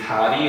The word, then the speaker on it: 다리: 모음 사이에 올 때, 모음 사이에 리을이 단독으로 왔을 때 R로 발음해. 예를 들면은 우리 다리 같은 경우에는 어때? D-A-R-I로 발음해.